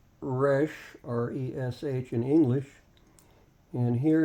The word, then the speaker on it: Resh: we find the letter Rush notice that it's pronounced Resh r-e-s-h in English and here is the Hebrew